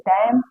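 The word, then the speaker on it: damn: स्तंभ डैम हिम तो यहां पर एम साइलें एम साइलेंट है इसे डैम हिम ऐसा पढ़ा जाएगा ठीक है अब देखते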